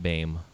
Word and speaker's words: Boehm: name is spelled BM and it's pronounced Bame don't forget it awesome hell yeah well